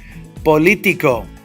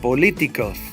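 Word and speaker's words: político: it follows the rule politico think about it politico's three syllables back I don't need to think about it it automatically does Politico Politico Bandera Bandera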